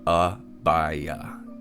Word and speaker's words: Abaya: least favorite boss and how is Abaya actually pronounced because Speedy says ABIA and he says ABIA is my favorite I like the environment and character design it's such a grumpy chunk very Australian I don't know what that means if you're Australian please explain that to me I have no idea how to pronounce it the devs don't know how to pronounce their own boss name personally pronounces it ah by uh just like me that